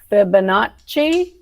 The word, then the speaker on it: Fibonacci: There's Scratch, I'm going to mess up this word, I know, Fibonacci.